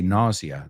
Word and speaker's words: nausea: We say nausea. La S es más como una Z.